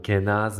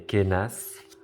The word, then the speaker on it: Kenaz: orale donc là oui ça se dit pas donc Kenaz mais kenas ou alors franchement c'est